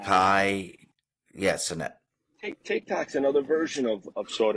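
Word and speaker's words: Kai Cenat: Think about someone like Kai Cadet. I said his name wrong. You say it. What is it? Sinet? All right, this guy. Kai, Sinet.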